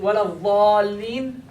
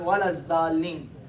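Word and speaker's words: ولا الضالين: So, Va, is it wala dhalin? Wala dhalin. Alright? It is not, thus, it is not wala zalin. There is no za in Arabic. If you pronounce the letter za anywhere, you're making a mistake.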